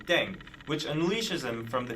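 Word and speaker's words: 땡: if that's actually true the pronunciation of deng is similar to thang which is the slang of thing in english last but not least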